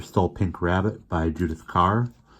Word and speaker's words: Kerr: pink rabbit by judith carr i've been saying curb i believe it is pronounced car so we've been introduced